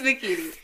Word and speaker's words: Makini: And her name is spelled exactly how it sounds. So it's very phonetic. There are no Y's, there's no Q's, there's no Z's. It's just, it's Makini.